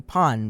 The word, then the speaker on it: Pan: I know Pan means bread and Gohan means rice or meal, so I'm gonna say Pan because that's how you pronounce it in Japanese.